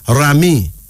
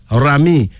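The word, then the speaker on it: Raimi: Egypt meaning high rank dignity then this is Rami Rami r-a-i-m-i Rami a Nigerian variation of the Muslim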